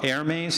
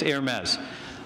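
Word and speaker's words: Hermès: here will correct me I think it's called air maze is that it the brand somebody confirm or deny that for me do you know how to say it Hermes okay it's Hermes their their slogan is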